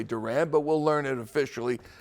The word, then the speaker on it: Duran: It is pronounced Jan. Duran is officially how it's pronounced. I think he might say Durant, but we'll learn it officially soon enough.